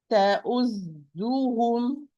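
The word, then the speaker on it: تؤذوهم: Never pronounce the zai with sukun when you are when you are in the position of dhamma, because it's proceeded by dhamma and followed by dhamma. تأذو, تأذو, تأذوهم أذى.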